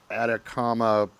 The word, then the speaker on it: Atacama: the picture of the I believe it's pronounced atacama entity or humanoid you